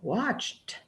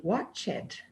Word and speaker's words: watched: and the teacher goes no we don't pronounce the e over there we say she played I danced they watched we listened my brain is getting